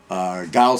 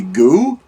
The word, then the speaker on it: Gaux: Gaux seems the best way. I'm thinking maybe it was like Rue, it would be Goo. And that didn't sound right, so I went the other way with it.